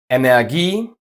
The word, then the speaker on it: Energie: But watch out, the following ones are just pronounced with the long e. Kopie, Energie, Theorie, Genie, Melodie.